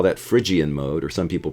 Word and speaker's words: Phrygian: the key of F, and we call that Phrygian mode, or some people pronounce it Phrygian.